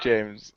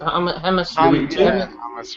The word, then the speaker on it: James: James no no it's it's not James it's Hamas h hamus Rodriguez thank you you can